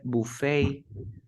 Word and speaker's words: buffet: And we have ballet, buffet.